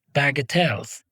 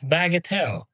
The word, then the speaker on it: bagatelle: Or are some things just bagatelles? Today's word is bagatelle. Its pronunciation, bagatelle.